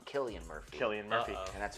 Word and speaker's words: Cillian Murphy: for the longest time, I thought it was Cillian Murphy until I heard an Irish director talk about casting him, and he's called him Killian Murphy.